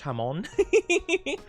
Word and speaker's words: Hamon: Every time I every time I say it, I think of Hammon from Jojo, which also is just pronounced like ham in Spanish. Hamon.